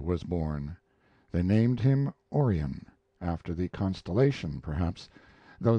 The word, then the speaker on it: Orion: born they named him Orion after the constellation perhaps though they changed the accent to the first syllable calling it Orion Gainsborough was a small